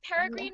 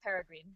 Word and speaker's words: Peregrine: I say it Peregrine, but I'm not sure if that's actually, I don't know. I suppose I wrote it, so I get to pronounce it however I want. However you want. It's in my mind, it's Peregrine.